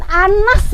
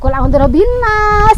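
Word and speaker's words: An-Nas: ayo a hebatnya Iya surat Annas bukan quinas ya Annas artinya ayoolongan ah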